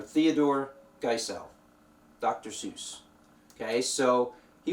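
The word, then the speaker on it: Theodor Geisel: seuss here but uh his real name is theodore giselle um i believe that's how you pronounce it theodore giselle or theodore geisel dr seuss okay so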